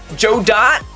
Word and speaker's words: Godot: It's pronounced Joe Dot. Thank you. I wasn't sure. Thank you. I've been saying Godot all along, and clearly I've been wrong.